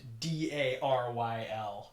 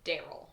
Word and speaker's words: D.A.R.Y.L.: Is it Daryl or is it D A R Y L? I'm gonna say let's pronounce it Daryl.